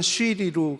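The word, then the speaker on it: SyRI: 자동 감시 시스템이 있습니다 이게 발음은 시리로 그 애플 시리랑 같은데요 리를 그래서 금지했습니다이 이유는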